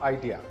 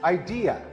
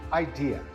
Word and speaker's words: idea: This word is not idea. In fact, it is idea. The second syllable is the one that is stressed. Again, this word is idea.